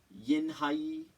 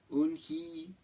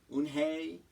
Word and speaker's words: Unhei: Everyone tried to say it. Yinhai, Unhei, Unhei. Unhei said her name again slowly and clearly. Soon the kids began to say it better, even Mr.